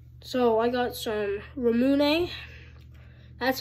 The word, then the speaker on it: ramune: so I got some ramune that's how you pronounce it it looks like you would say run but no so I got this